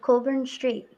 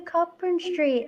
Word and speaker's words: Cockburn Street: talking about we have a street in edinburgh called colburn street but it's spelt like cockburn street so people are like oh we're going to copper street and i'm like sorry